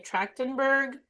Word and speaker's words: Trachtenberg: Trachtenberg.